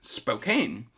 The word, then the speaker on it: Spokane: mystery set in 1900s Spokane uh no it's spoken no no Patricia you told me